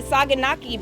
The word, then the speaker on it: saganaki: where we're headed we are here at the saganaki booth is that correct how you say it